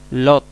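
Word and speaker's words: לוט: en el nombre lot lot Eh bueno se trans litera lot se pronuncia lot se traduce lot sigamos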